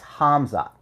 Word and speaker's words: Khamzat: It's Khamzat.